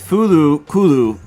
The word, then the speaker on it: FLCL: Isn't it Fooly Cooly? That's how you pronounce it in English. Yeah, well, I like how you said that. Like, yeah, that's how you pronounce it. But no, but I'm gonna call it no because it's FLCL, but in Japanese it's Fulu Kulu.